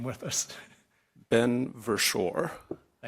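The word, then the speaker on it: Berschor: Ben Versore.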